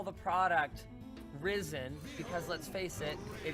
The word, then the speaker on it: Ryzen: Nobody is going to pronounce that Ryzen. It's Risen.